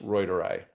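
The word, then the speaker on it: reuteri: It's lactobacillus roidery.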